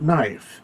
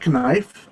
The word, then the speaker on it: knife: it make sense that we have a k in the word knife because we don't pronounce the k in the word knife we used to believe it or not we used to say knife and we used to